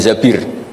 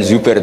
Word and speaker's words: Zabir: nikah sama Abdurrahman Bin Zabir di di hadis sini bukan bacanya bukan Zubair tapi Zabir Abdurrahman Bin Zabir tapi orang Arab itu